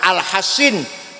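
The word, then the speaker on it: الحصين: Ada sahabat namanya Alhasin Alkroji. Alhasin shad ya. Shad bukan sin. Kalau sin alhusain. Kalau kalau shad alhasin macanya bacanya du anak enggak mau masuk Islam dirayu, dikandani dinasihatin.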